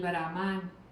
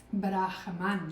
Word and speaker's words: Brahman: yoga, el atmán, el brahán, prac. Bueno, pues ahí os lo pongo. Ya lo ya lo veremos bien. Brahán es Brahman. Yo tampoco lo lo pronuncio bien.